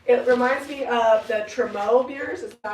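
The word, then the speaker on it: trumeau: It reminds me of the Tremo mirrors. Is that how you pronounce it? Yeah. And I've been wanting to Oh, hey, make a there you are. Tremo mirror.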